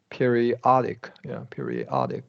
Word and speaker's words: periodic: Okay, and this is now you stressed it correctly, but it is a short O, periodic. Oh, okay. Periodic, yeah.